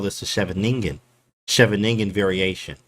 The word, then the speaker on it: Scheveningen: It's Scheveningen or Scheveningen, whatever.